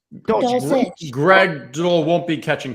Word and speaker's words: Dulcich: Damian Harris, Jacoby Myers, Greg Dolch, or Dolch. I don't know how you pronounce the last name there. Dulcich. Dulcich.